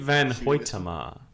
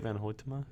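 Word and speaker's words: van Hoytema: let me look it up real quick white van pointa MA oh wait van ho Tamar that's how you say his name the two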